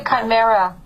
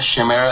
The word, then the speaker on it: chimera: and what is the chimera james what is this uh chimera shimmer it depends how people pronounce it it's basically uh like